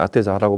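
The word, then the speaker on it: Atessa: 뭐 이태리에서는 아테자라고 발음도 하고, 하여튼 그런 도시 이름을 따서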